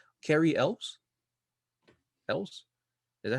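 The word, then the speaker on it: Elwes: And he also trained I always say his name wrong. Carrie Elves. Elves.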